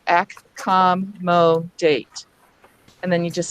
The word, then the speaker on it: accommodate: We could start off by saying accommodate, but as we say it quickly, we do tend to slur or schwa the initial A, and that's one of the things we pointed out was A at the very beginning or the very end of the word tends to use the sound, accommodate.